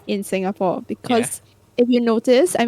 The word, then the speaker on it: Singapore: Singaporeans will pronounce as Singapore. Singapore is Singapore. Yeah, come to Singapore, like that. But actually, the British way of pronouncing is Singapore, I think. Singapore, like You're that. just saying Singapore. Yeah, but we were just it's the same, like it's monotonous. It's So just the lack of emphasis or the lack of yeah.